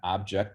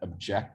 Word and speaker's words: object: In object, the first syllable is stressed. In object, the second syllable is stressed, right?